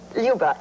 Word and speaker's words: Luba: When you are playing a role like Luba, am I pronouncing it right? Yes, Luba.